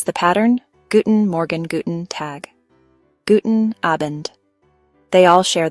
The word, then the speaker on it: Tag: For the middle of the day, we use guten tag. Guten. The G at the end of tag sounds more like a K.